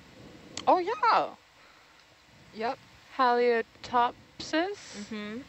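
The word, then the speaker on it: Halieutopsis: potential species um that I will attempt to pronounce oh yeah yep halia top says spelled h-a-l-i-e-u-t-o-p-s-i-s three centimeters how do you talks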